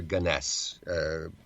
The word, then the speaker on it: Gunness: Gunness or Gunness. Pronunciations vary on this.